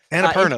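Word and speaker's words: Annapurna: you said it right anap Perna anap Perna anera that's it Purina is a is a cat food anaer anera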